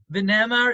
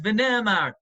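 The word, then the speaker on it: ונאמר: V'nemar is V'nemar. And yet, in almost every Haggadah, you'll see we pronounce the word V'noimar.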